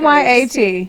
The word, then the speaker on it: gyat: Yacht. Okay. Like go on get.